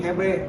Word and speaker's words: GB: Tapi kalau orang tua dulu nyebutnya Gedung Hebe, karena ejaan Belanda G dibaca He ya.